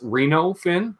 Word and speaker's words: Reno Fin: It's not Reno Fin, it's Reno Fin, like Reno, Nevada.